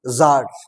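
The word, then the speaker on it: tsar: এই গল্পের main character হচ্ছে একজন জার। উচ্চারণটা হবে জার বা জার। চন্দ্রবিন্দুর মত উচ্চারণ করতে পারো।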